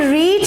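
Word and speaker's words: read: तो पहले आपका ऑब्जेक्ट आएगा Why a newspaper not, एंड रीड की थर्ड फॉर्म भी रीड होती है बट वी प्रोनाउंस रेड।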